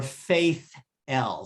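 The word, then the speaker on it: Faith-Ell: Her last name is Feitel or Faith L. So it's F-A-I-T-H dash E-L-L, Faith dash L.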